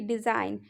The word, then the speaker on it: design: ठीक है, तो आप चलिए पहला एग्जाम्पल के थ्रू समझते हैं कि डिज़ाइन, DESIGN डिज़ाइन हुआ, और यहाँ पे हमने क्या बताया एन से पहले जी साइलेंट रहता है।